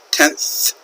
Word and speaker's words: tenths: a decimal point include the letters th pronounced in English you have to stick your tongue out a little bit that is why we